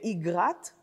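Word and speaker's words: אגרת: "Lilith, and Naamah, and Igrat," I believe that is the pronunciation, rather than "Agrat", the common pronunciation, "Igrat and Machalat.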